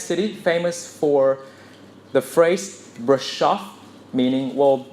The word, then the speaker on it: Brașov: famous for the phrase Brașov, meaning, well, it sounds sort of like rhymes with taking your bra off.